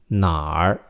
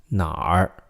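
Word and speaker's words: 哪儿: 哪儿, it's N-A, third tone, R, 哪儿.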